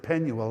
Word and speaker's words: Penuel: So in the south, they pronounced it Penuel.